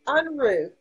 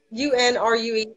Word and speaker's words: Unrue: your last name, I wanted to get Unrue. Am I saying it right? It's Unrue. It is Unrue.